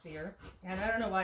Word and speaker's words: Cyr: Kind of like my name is Cyr, and it's C-Y-R, and most people want to call it because of the Y.